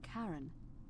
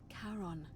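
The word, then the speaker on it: Charon: it's just as you described it only your pronunciation is a little off the name you heard wasn't Karen it was c h a r o n as in karon the Fairman of the Dead Oh Kon who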